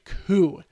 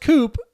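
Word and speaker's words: Coup: and that game is cool this game is not pronounced Coop as I thought it was it's cool and what it is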